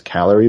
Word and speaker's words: CALERIE: You can go to, it's Calorie, but it's spelt different because, the abbreviation is not, they couldn't find an O in the middle. So it's CALERIE.duke.edu.